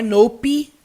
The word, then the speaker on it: nope: bem mudo não é nope você percebe que não tem esse som do e aqui no final não é noper é nope no termina